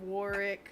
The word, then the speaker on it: Warwick: potter what's his name warwick davis davis the middle w is silent oh apparently anthony knows